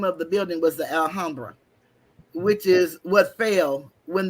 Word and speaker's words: Alhambra: We called it the L, but it's really the Alhambra. That's how it's Mm-hmm. pronounced. But we call it the Alhammer. That's how we say it, and we Mm-hmm. call it the L.